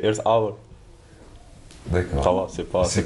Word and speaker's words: Earth Hour: Oui, en fait, ça se prononce presque comme en français, c'est Earth Hour.